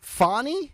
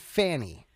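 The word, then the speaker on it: Fani: said rhymes with parish is it fonnie or is it Fanny originally everybody said her name was Fanny and then somebody changed it along the way see I think it's fonny when she's having champagne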